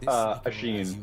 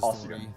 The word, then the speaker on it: Ossian: It is pronounced Ashin, but he specifically says Ossian, because he's making up